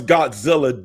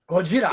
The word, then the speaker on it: Gojira: I guess they pronounce Godzilla different than we pronounce it here in the United States. Yes. It's not a whole word with 3 syllables. Gojira. Right. Gojira. Just like Sonny just said.